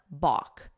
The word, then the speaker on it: balk: Let's talk about to balk, that L is silent, balk.